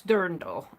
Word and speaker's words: dirndl: smaller um grindel doll i call it drandal it's dirndl i can't pronounce it it's a german word i think it's more like the dirndl dirndl well whatever but